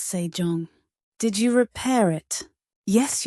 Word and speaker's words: Sejong: His son becomes King Sejong, pronounced Sejong, a quiet mind in royal robes.